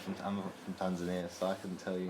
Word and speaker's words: Tanzania: So South Africa, Ethiopia, Kenya, Mozambique, Seychelles, Tanzania, Lorraine, Mayotte, Comores, and my country Mauritius. I have a thing about... I found out something about Tanzania. It's not actually pronounced Tanzania. Alright. It's pronounced Tanzania. Really?